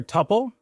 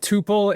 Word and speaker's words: Tuple: I prefer Tuple, but Tuple is fine, and other people say Tuple, so it's fine.